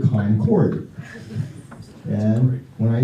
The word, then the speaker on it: Concord: I say Concord. They say, huh? And I say, oh, I'm sorry, you people pronounce it Concord.